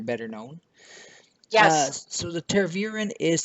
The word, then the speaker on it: Tervuren: Did I pronounce correctly? Tervuren.